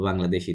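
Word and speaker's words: Bangladais: বং, কি হবে বংলাদে, DAS দে, S silent, বংলাদে।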